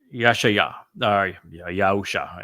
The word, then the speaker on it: Yahusha: And Yahusha, it should be the most correct way to say it.